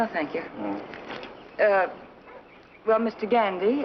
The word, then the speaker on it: Gandy: heads I suppose I my name is Gandy that's spelled g a n d y it's like candy only with the G up front would you like some